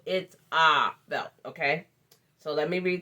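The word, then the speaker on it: Itzah Belt: her facebook page and it's spelled i t z a h as in harry b e l t so it's ah belt okay so let me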